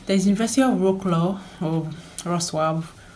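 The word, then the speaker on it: Wrocław: And then there's University of Wroclaw, or Wroclaw. It's called Wroclaw, but for English pronunciation, University of Wroclaw, the deadline is, for bachelor's degree is 15th of August.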